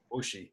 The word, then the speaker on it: Wuxi: This is, correct me if I'm wrong on my pronunciation again. Wuxi. Wuxi, yes.